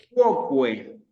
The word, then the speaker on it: quoque: Quoque.